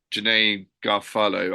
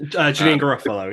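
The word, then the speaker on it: Janeane Garofalo: I do think there will be things like, the actors being like Janae Garofalo, I can't pronounce her name. Janine Garofalo, yeah.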